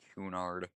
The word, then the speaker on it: Cunard: Cunard. How do you pronounce C-U-N-A-R-D?